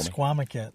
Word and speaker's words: Misquamicut: Pronounce it for me. Mesquamaket.